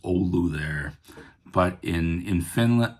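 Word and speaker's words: Oulu: a Finnish American band from northern Wisconsin, the Ulu Hot Shots. If you're from Finland, I know it's pronounced olu there, but in in Finland or in Wisconsin, we mispronounce it ulu.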